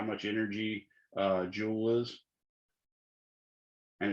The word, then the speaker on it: joule: kitchen table that's about how much energy uh jewel is and it's spelled j-o-u-l-e all right so we've got a